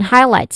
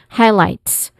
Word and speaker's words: highlights: So pronunciation wise, we're focusing on highlights, which has a two distinct sound, diphthong sound I. And then lights as well, it has a diphthong sound I. Okay, highlights.